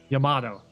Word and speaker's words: Yamato: That's when you run into the Yamato issue. Whatever that, however you pronounce that. The giant Japanese battleship. Yamato, that's right.